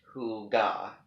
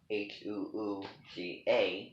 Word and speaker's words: hygge: Hygge, pronounced Huga, Huuga, which sounds like, something, that what does that name sound like to you?